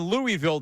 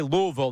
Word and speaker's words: Louisville: they say Detroit it's it's like in Louisville they don't say that they say Louisville not Louisville right in New Orleans it's New Orleans locals Say New Orleans, not New Orleans.